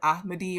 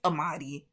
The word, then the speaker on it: Ahmadi: I previously mentioned this book and I mispronounced the author's name. I said Ahmadi or something like that. It's Ahmadi. So, I'm sorry.